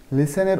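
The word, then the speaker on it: listen: কিন্তু এখানে অ্যাকচুয়ালি টি এর উচ্চারণটা হয় না, এই কারণে এটার উচ্চারণ হবে লিসেন, শোনা। লিসেন, টি এর উচ্চারণটা তোমরা বলবে না।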